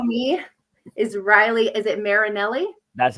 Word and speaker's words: Marinelli: Is it Marinelli?